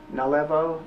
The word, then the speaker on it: Nalevo: Nalevo, N-A-L-E-V-O.